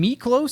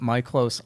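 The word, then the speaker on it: Myklos: Miklo is how most of the characters say it. I think one of them or two of them pronounces it. Mlo.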